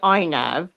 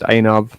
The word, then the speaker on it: Anav: Jake Clark and Kaylee Inav, you're a paedophile. There's no law out there that says that. Her name's actually Stop pronounced it. Anav. It's pronounced Anav.